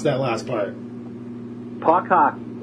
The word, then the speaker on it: Puck Hcky: Puck Hockey. Puck Hockey, okay. We just took out the vowel.